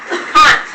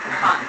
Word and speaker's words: Kant: Kant. Have you heard the song Can't Touch This? Yeah. It's really spelled with a K. Kant. Immanuel Kant. K-A-N-T.